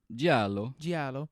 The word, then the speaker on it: Giallo: Is that how you pronounce it? Giallo or Giallo? Giallo. Yellow film.